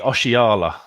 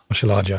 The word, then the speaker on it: Oshilaja: So I've got to try and pronounce the name. It's Paul Hurst's much coveted Deji Oshiala. Oshilaja, yeah.